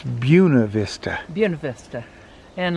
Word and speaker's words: Buena Vista: there's a little town b-u-e-n-a vista and we would say buena vista and they say no it's buna vista buena vista and like